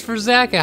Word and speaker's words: Verzaka: That's how you say his name. I was trying to figure out the whole time how to say his name. It's Verzaka.